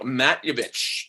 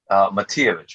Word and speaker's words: Matijević: Miljenko Matijević, all the way from sunny Los Angeles, sir. Did I pronounce that correctly? Matijević, but it was good.